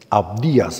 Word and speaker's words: Abdías: el libro de abdías El libro de abdías abdías así se pronuncia es un juicio para esta nación impía